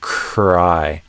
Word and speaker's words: cry: in cry, the beginning of the R is unvoiced. Almost like I'm kind of whispering. Like I'm already doing the R tongue position as I'm doing the K. So I get this kind of sound at the beginning. And then the voice turns on. And then I do the I. So it's like cry.